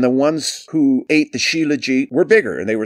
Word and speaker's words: shilajit: years i've started taking shilajit s-h-i-l-a-j-i-t shilajit it's how it's pronounced in india they call it the